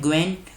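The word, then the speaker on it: Nguyễn: Vietnam के president है ग्वेन फू ट्रोंग। लिख देता हूँ यहाँ पे NGUYN, ग्वेन। देखो N साइलेंट है इसमें, ग्वेन फू और ट्रोंग, ये वियतनाम के प्रेसिडेंट हैं।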